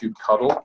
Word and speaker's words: kubectl: I think probably the most controversial change of the 1.14 release was that we now know kubectl is pronounced kubectl because of the new logo.